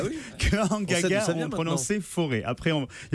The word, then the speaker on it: Forez: On va très précisément, Olivier, dans le pays de Forez, ou alors de Forez. Apparemment, le Z se prononce, selon certains auditeurs qui nous ont appelés ce matin.